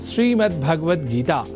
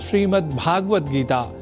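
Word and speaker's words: श्रीमद्भगवद्गीता: यह शब्द ही है, जैसा कि मैंने उच्चारण किया, श्रीमद् भगवद गीता, जिसे अनवधानतावश हम श्रीमद् भगवद गीता या श्रीमद् भागवत गीता या भागवत गीता कर जाते हैं, जो सर्वथा अशुद्ध है।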